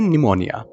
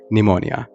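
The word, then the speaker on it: pneumonia: दोस्तों, इस वर्ड को हम कहते हैं निमोनिया। क्या कहते हैं? निमोनिया। इसमें पी साइलेंट होता है, और इसे हम हिंदी में भी निमोनिया ही कहते हैं।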